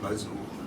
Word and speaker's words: Mazot: À chaque fois qu'on tique, moi, sur mon nom, j'ai envie de faire moi, je suis Mazot. Ben, comme les naseaux, mais ça s'écrit pas pareil.